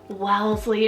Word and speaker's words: Wellesley: here for a girl guys is Wellesley w-e-l-l-e-s-l-e-y Wellesley this is also so adorable it's so long Wellesley it just has this cute sound I feel